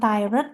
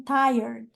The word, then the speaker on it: tired: was Ti very good bacanya gini bukan tired tapi r-nya diiklasin tired tired G ya Iya jadi